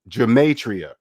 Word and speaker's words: gematria: how to pronounce it gematria three uh four syllables good matriarch they're not even saying g it's g g demetria gamatria you see